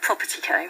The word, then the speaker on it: propertECO: Have I pronounced it right? You have propertECO.